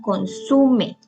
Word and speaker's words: consume: Algunos ejemplos son consume. Consume lleva el acento en la sílaba su, igual que ombligo.